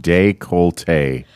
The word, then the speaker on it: décolleté: It says you pronounce it décolleté. Oh, décolleté.